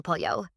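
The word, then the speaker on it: pollo: Okay, let's start with el po. El po, chicken. And that double L in Spanish makes a Y sound.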